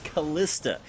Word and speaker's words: Kalista: the subject to pronunciation I'm pretty sure it's kalista and the only reason that I'm sure about that is from watching Hercules the Legendary Journeys when I was a kid and I'm pretty sure